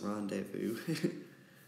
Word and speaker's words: rendezvous: are rendezvous you know it's about like Brenda's house I wonder why but it's pronounced rendezvous and then we're gonna